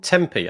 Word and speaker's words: Tempe: It's in Tempe. I think you pronounce it like that.